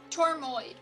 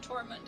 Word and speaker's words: Tormoid: mine's uh mine smite tormund okay tormoid for the record or i might i might have said tormund at some point it was intentional he was trying to he was in character getting the name wrong my abyssal is a